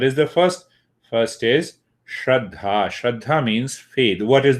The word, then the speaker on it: Shraddha: The word Shraddha in English means faith. It has 2 syllables. Shraddha.